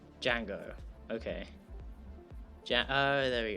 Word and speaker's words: Django: you pronounce it pronunciation Django okay yeah oh there we go rhymes with Fang go bang da Soylent cool